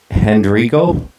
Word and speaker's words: Hendrigo: Today, I'm very happy to welcome guitarist and I hope I get your last name right, Hendrigo? Is that how it's pronounced?